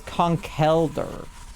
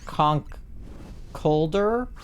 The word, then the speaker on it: Conkeldurr: The L and the E, I think I read them switched in my mind. So I was pronouncing it wrong. But I think it's Conkeldurr. And not Conkeldurr. Like L-E versus E-L.